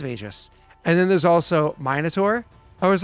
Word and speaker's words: Minotaur: Magus, the Pathfinder class, and he It's pronounced pronounced it Magus. Magus. I was like, fuck, it is Magus. And then there's also Minotaur.